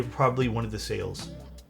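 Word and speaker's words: Sayl: I think if I had to repurchase a chair right this instant, it would probably one of the sales. I think it's pronounced sale.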